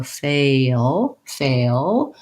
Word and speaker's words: fail: But the short version is that I keep my tongue down in the back, and I have that schwa, that sound, O, and then I lift the tongue to finish the L. So fail.